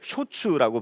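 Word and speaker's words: 焼酎: 사케가 발달하게 되죠 그리고 일본에서는 이제 소주를 쇼츠라고 발음을 하는데 일본의 셔츠 같은 경우에는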